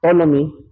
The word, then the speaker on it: Ptolemy: In AD 150, Ptolemy, silent P to no? Ptolemy, yung iba, as some says, dogmatically said that there are 156 or 1056 stars existed.